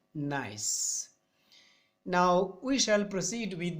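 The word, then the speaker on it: gneiss: s not nice organism it is pronounced as nice is the altered form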